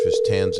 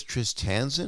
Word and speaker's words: Tristan: is this tris tanzan is that how i pronounce your name it's bob saget oh hi how you doing i'm good is that the proper pronunciation of your name uh tristan oh it's just tristan or kristen tristan okay